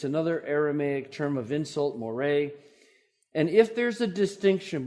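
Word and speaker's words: μωρέ: Aramaic term of insult it's Moray m o r e with an accent on the E Moray and if there's a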